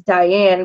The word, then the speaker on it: Dyan: Her name is Diane, but it's spelled Dyan.